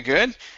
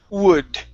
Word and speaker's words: would: word would now here watch your w sounds so instead of saying good okay it's ooh would would good okay so here